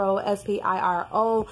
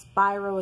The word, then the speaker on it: Spiro: head and give him the attorney at expire OS Piro I think their throats by Rose Hearn are sorry pronounced spiro spero but yes those day jay-z you know